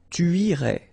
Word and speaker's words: irais: Tu irais. Same thing here, final S not pronounced.